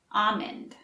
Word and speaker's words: almond: don't say a Monde I say it with an e sound almond let's practice almond amen